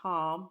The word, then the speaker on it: Ham: Noah has three sons: Shem, Ham, the youngest pronounced Ham, not like the meat, and Japheth.